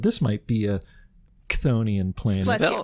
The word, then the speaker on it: Chthonian: put you off, take a trip to a Chthonian planet on your next Walkabout the Galaxy.